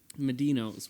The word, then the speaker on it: Medino: the whole thing inception medino's where the medina was as it said medinos yeah it is said like the pizza joint doesn't it dora what